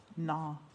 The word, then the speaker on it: nah: Nah. So no, man. Yeah. Didn't do that. Nah rhymes with ba.